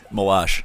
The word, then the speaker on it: Malash: So, it is Katie Malashsh. Malash. There you go. Thank you. The family says it rhymes with squash.